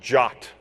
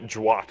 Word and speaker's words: JWT: to to at the the first line of the specification say that it's pronounced jot and not jwat or something like that